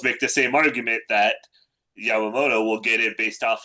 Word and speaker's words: Yamamoto: Um uh but like you know he's even you can make an argument after two season Yamyamoto. Yeah. Yamamoto you know his second you know everybody's even putting this season comparing it to Bum Garner's 2014 season.